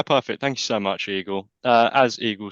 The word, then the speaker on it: Eagle: So my name's Eagle, pronounced like the bird.